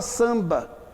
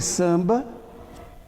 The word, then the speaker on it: samba: É o caso da palavra samba. O AM de samba é um dígrafo.